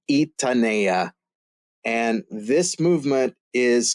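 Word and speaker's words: Gitanella: a character g-i-t-a-n-e-l-l-a and they're gonna say oh jitonella jitonella or gettinella it's it's Spanish pronunciation it's super quirky from an English perspective but it's itanea and this movement is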